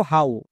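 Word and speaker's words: how: কখন হবে যেমন দেখো হাউ এখানেও শেষে ও ডব্লিউ আছে বাট এখানে কিন্তু ওকার সাউন্ড হচ্ছে না এখানে আউ সাউন্ড হচ্ছে যেমন এইচ এর জন্য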